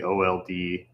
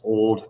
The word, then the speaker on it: OLD: And then the space between them is called the over lock nut dimension, also the OLD, which does also can be pronounced old, but nobody says that. They say OLD.